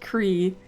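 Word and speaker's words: croí: It's supposed to be pronounced Cree with the little weird thing over the I in Irish meaning heart, but Google Translate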